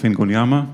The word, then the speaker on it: Ingonyama: is Omer I'm the founder of ingoliyama this is how you pronounce it The Talk today is